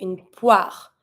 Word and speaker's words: poire: O-I makes the sound wa. Une poire. you have the R, you pronounce the R, but you're going to see that every time you have an E, final E at the end of a word, it's practically always mute. So you're not going to be pronouncing it. You're not going to be saying une poire. You're going to say une poire. And you stop at the R.